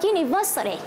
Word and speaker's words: university: Thứ hai chúng ta có từ a university. Ở đây chúng ta cũng dùng a bởi vì cách phát âm là you.